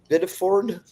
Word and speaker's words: Biddeford: From Portland Press Herald, Biddeford, that's how you say it, landlord claims Central Maine Power Company double billed her and tenants for nearly 20 years.